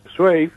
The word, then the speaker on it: Zweig: Acá estamos acostumbrados a decir Zweig, pero en realidad creo que en alemán se debe pronunciar Zweig.